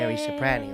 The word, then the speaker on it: Sheri Ciprane: Fucking Sheri Ciprane. That's right. Did I say it right? Yes.